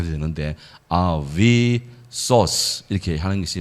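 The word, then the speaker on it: ἄβυσσος: 헬라어로는요, 아뷰소스 그렇게 돼요. 아뷰소스. 한번 따라하시죠. 아비소스. 예, 뭐 혹은 아비소스. SS가 되면 자음 두 개면 경음화가 일어나요. 그래서 이게 요 유가 위 혹은 우 발음 다 되는데 아비소스 이렇게 하는 것이 뭐 헬라적인 발음이 더 맞겠습니다.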